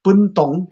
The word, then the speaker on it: Puntong: pronunciation is puntong actually.